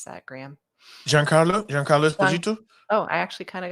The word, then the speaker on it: Giancarlo Esposito: How do you properly pronounce that, Graham? Giancarlo Esposito?